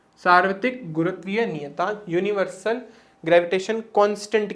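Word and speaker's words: nu: आपने पढ़ा होगा ये किसका सिंबल होता है, इसको हम क्या बोलते हैं, इसका प्रोनाउंसिएशन होता है न्यू।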